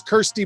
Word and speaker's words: Kirsty: not quite no but it is actually pronounced like your little sister yes it is kirsty mccall right the call